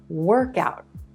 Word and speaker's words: workout: so let's dive in take for example the words work and out we put them together and emphasize that first word and we get a new word work out work out this is a period of physical exercise right this is a